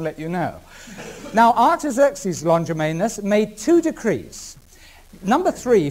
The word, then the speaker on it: Longimanus: The third one was given by a man called Artaxerxes Longimanus. I better spell that, I think. A-R-T-A-X-E-R-X-E-S, Artaxerxes Longimanus, L-O-N-G, I-M-A-N-U-S.